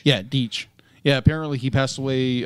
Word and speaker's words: Deitch: Apparently, the classic animation creator of Popeye and Tom and Jerry, Gene Ditch. I might be pronouncing the name wrong. Deitch. I think it's Deitch. Yeah, Deitch.